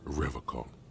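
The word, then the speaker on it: Revachol: soggy logs he pronounces rivercon with a hard K unlike other people you said rather Cole I like to pronounce it the hard way Spartan way he nods solemnly that's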